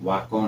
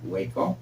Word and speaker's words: Waco: Is felt like the town in Texas, but pronounced Waco, not Waco.